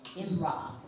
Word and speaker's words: امرأة: Imra'a.